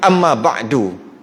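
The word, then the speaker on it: أما بعدُ: Jadi kalau wa ba'du, best sikit bunyi. Amma ba'du. Itulah. Tu cara baca je tu. Dihidupkan dal tu, walaupun kita nak matikan dia, kata nak berhenti, tetap dihidupkan dal.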